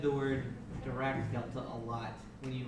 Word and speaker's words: Dirac: A Dirac Delta, How do you spell it? We don't know. nobody knows. Nobody knows. Direct. Yeah. TV. No. It's Dirac Delta, right? It's Dirac Delta. Dirac? It's Dirac.